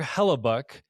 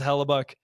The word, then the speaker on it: Connor Hellebuyck: team, but Connor Hellebuyck, I guess is how you say his name.